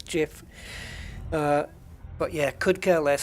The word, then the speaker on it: GIF: still wrong is is pronouncing uh jif as gif um i'm not having it because it ain't right it's jif but yeah could care